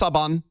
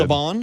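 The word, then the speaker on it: Saban: By the way, one time I interviewed this director and I said it's from Sabin Films. and he goes, "It's pronounced Sabon." So, I have been corrected. Sabon. It's Sabon Films.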